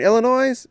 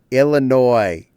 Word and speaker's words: Illinois: You pronounce the S just to vex me, don't you? No, it's just how I was brought up. I was told that's how the name was said.